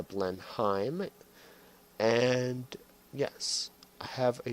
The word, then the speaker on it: Blenheim: you think about this blend I'm f yes I know I pronounced it wrong but it is the blend Heim and yes I have